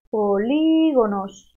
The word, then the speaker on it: polígonos: Vamos a ver los polígonos. Polígonos. Veo aquí una tilde, porque esta palabra es esdrújula. Lleva acento en la antepenúltima sílaba. Por lo tanto, siempre lleva tilde.